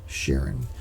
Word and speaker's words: Charon: people think it's pronounced Karen but actually Claude Tom Bell had named this after his wife Sharon so it's spelled like Karen but it is pronounced Sharon it's a little bit